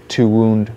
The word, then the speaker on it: wounds: Oh, wounds.